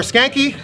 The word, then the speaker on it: Skancke: ] awesome man th your last name is pronounced it's skank skanky Thor skanky so I